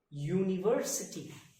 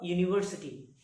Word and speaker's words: university: are not using because the sound of the first letter u it is pronounced y o u so we have to